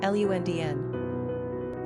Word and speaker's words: Londyn: Pronunciation, Lundn.